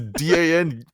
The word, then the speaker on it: Danyal: Literally, that's how it was pronounced. It was Danyal.